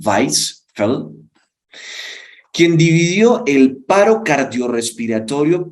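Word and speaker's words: Weisfeldt: Entonces, hay un autor llamado Weisfeld, se pronunciaría más o menos en alemán, Weisfeld, quien dividió el paro cardiorrespiratorio por causas desfibrilables en tres fases.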